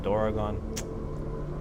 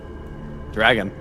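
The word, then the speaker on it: ドラゴン: So it's Dor Doroggon. That's how you say it. Doragon. Oh, I thought it was just dragon. Well, Doragon means in Japanese is dragon.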